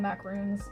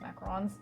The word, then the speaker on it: macarons: At least I know that's what they're called like when you're making macarons. You know, some people call them macaroons, but they're actually pronounced macarons on those little sandwich cookies that are French.